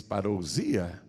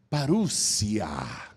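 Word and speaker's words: παρουσία: Lá no Evangelho, no original, a palavra, a gente lê em português parousia, mas a pronúncia é parúcia.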